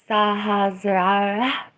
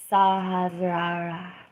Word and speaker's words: Sahasrara: like devout to chakras, I learned how to pronounce the crown chakra while live on YouTube. I probably still need help, but it's Sahasrara. Sahasrara.